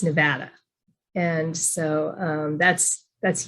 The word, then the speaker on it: Nevada: really protective about the way that we you pronounce the name of our state because a lot of people say nevada and it's nevada and so um that's that's huge we even